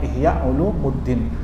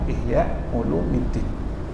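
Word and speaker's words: Ihya Ulumiddin: Ya, Masya Allah, banyak orang nyebutnya Ihya Ulumuddin. Padahal kalau secara ilmu nahwu harusnya bacanya Ihya Ulumuddin.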